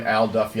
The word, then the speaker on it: Al Duffy: named Al Duffy, and that's his name, Al Duffy, I said it wrong in one other video once, Al Duffy worked at